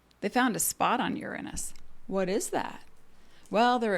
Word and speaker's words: Uranus: skip the jokes because the pronunciation really is like you're on us and it's like the